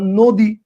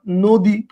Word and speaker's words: নদী: কি এভাবে করতেছেন না নদী, মানে আপনার উচ্চারণটা কি এভাবে করতেছেন না নদী, নদী এভাবে উচ্চারণ করতেছেন না, এভাবে উচ্চারণ করতেছেন না নদী, তাহলে ন লিখছেন ন কিন্তু উচ্চারণ হচ্ছে কি ও।